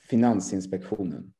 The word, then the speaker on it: Finansinspektionen: Finansinspektionen. Oh my Finansinspektionen. Gosh. Finansinspektionen. You need to say it at sort of, you need to, you know, go down when you say it as well. Finansinspektionen.